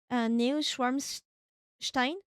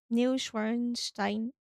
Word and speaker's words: Neuschwanstein: Is it new or is it new to say, to pronounce it? Neuschwanstein? Neuschwanstein? Schwanstein. Neuschwanstein.